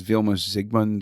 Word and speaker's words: Vilmos Zsigmond: Uh Vilmos Zsigmond, I think the Z is silent. I think it's Vilmos Zsigmond or yeah.